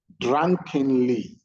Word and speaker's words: drunkenly: Drunkenly, drunkenly. Okay, so any word with 3-syllable that ends with ly, the stress is on the first syllable.